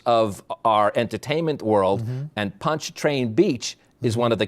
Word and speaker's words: Pontchartrain: Pontchartrain Beach. Pontchartrain Beach. And this, as I introduced it, as I said, New Orleans was one of the capitals of our entertainment world, and Pontchartrain Beach is one of the capitals of entertainment